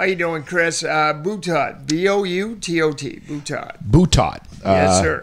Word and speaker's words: Boutot: Boutot.